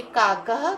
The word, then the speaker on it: काकः: काकः कृष्णः, इसमें विसर्ग है हर जगह, तो आपको ह की ध्वनि करनी पड़ेगी।